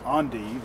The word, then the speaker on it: endive: I pronounce it as endive. I've been told it's endive is another way to pronounce it.